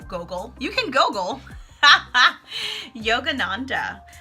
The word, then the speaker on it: Yogananda: you can goggle haha Yogananda literally spelled like yoga and nan de na in D a Yogananda Paramahansa Yogananda but